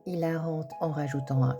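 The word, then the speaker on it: hilarant: Ilarant. Ilarante en rajoutant un e. Attention, dans le cas dearant, le H ne se prononce pas.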